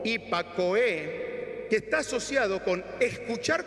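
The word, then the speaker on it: ὑπακοή: Pronuncia algo así como hipakoe, que está asociado con escuchar con respeto y atención.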